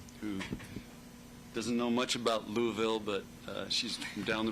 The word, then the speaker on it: Louisville: Louisville or Louisville? Well, you have to say it like you have marbles in your mouth. Louisville.